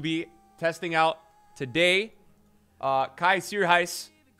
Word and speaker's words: Kaj Sierhuis: testing out today uh kai sir heist kaiser heist is how you pronounce it uh just like that announcer there that you may have heard but kaiser heist is this correct chat i have a